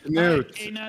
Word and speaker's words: Knut: Newt, not Nut.